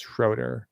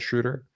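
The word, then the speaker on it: Schröder: for all Raptor fans it's schroer not shudder I've said shudder the broadcast team says shudder it's schroer I checked I checked with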